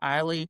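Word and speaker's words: Ihli: I want to say it's Ely. It might be pronounced Eiley.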